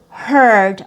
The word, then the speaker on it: heard: And then another example, very similar spellings. We have EA again in the middle, but this first example has a long E sound. And over here we have the schwa+r. So this example is heat. Heat has EA in the middle, and heard also has the same vowel combination EA, but it has a schwa+r sound.